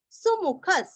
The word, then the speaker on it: सुमुखः: सुमुखः सुमु दोनों भी रस्व, सुमुखः।